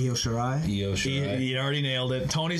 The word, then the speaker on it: Io Shirai: Someone's gonna have to help me with the pronunciation of this girl's name. Io Shirai. Io Shirai.